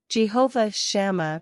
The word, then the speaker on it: Jehovah Shammah: city the prophet Ezekiel was shown in vision Jehovah shama means the Lord is there how do you pronounce this word let's break down the pronunciation